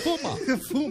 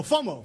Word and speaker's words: FOMO: FUMA. What? FUMA. Fear of missing out. Fear of missing. Oh, FOMO. FOMO. That's right. I pronounce it with New York City.